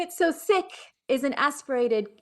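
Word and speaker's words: Sikh: that because i think some people are used to hearing seek and in fact it's sick so give us that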